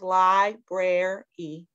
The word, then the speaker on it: library: So there's three syllables, library. It's, yeah, library.